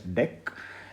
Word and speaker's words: deque: is a collections dot deck this is called deque it's not dq it is branch pronounced as deck now the funny thing